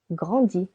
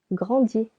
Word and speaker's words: grandis: Je grandis. Silent S. Tu grandis.